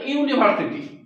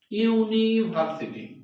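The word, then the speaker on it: university: হবে না কি বসবে এ বসবে কেন এই উচ্চারণটা ইউ এর মত আগে ওয়ান রুপি নোট বললাম ইউনিকর্ন বললাম তারপরে ইউনিভার্সিটি ইউনিভার্সিটি ইউনিভার্সিটি মানে ইউ তাহলে ইউ টা হচ্ছে ভাওয়েল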